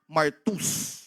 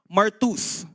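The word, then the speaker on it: μάρτυς: Actually ang pronunciation diyan Martus. [nililinis ang lalamunan] Martus spelling sounds like spelling looks like marty because that's exactly where the word martyr was derived from.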